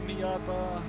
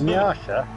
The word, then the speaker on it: Miata: Little Miata. Don't ever call that, call it that again, Kim. It's fucking Japanese. What, Miata? Miata. Never Miata, it's the way the Americans say it.